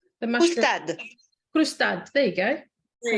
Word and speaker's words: croustade: What was it that you're trying to pronounce? The mushroom. Croustade.